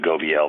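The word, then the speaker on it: Gobeille: than it is like, I think you pronounce it Gobiel, but you can tell me, where Vermont tried to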